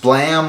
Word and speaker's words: BLAME!: in me magazine afternoon yes the series is pronounced blam like the the sound of the gun makes